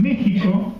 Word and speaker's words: México: En realidad prójimo, ustedes vieron que en México se escribe con X y se pronuncia con J.